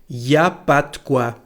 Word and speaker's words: y a pas de quoi: we say something like y a pas de quoi. We don't pronounce the letter N, and the letter E here disappears to y a pas de quoi.